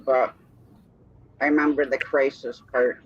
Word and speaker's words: XRYXIX: This guy here, how do you pronounce his name? XRYXIX. Crisis.